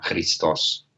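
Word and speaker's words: Χριστός: griego entre el título chistos, o sea, Cristo, y el término griego que quiere decir dulce, benigno, amoroso. Parece que se pronunciaba en la misma forma, Hristos.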